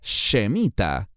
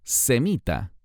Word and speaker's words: semita: hebreo shem en realidad la palabra semita contiene un error en ella al menos en el sentido de Cómo se pronuncia y se escribe la palabra Debería ser shemita y no semita es un error típico